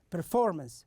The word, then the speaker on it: performance: for example we have the first one here performance so we we have the stress on uh the second syllable you can see it in the red front here so we say performance performance and also we have